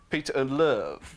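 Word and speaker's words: Peter Ndlovu: Like Ray Stubbs, whenever he pronounces his name, he pronounces it Peter and Love, like Barry, like Barry White.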